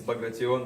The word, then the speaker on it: Bagration: probably butchered that horribly. It's Bagration, but yeah.